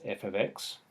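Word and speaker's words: f(x): and this part here we just refer to that or pronounce it as f of x so we say f of x is equal to 3x take 4.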